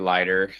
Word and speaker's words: Leiter: How do you pronounce it? Ortiz or Leiter? It's definitely going to be Leiter.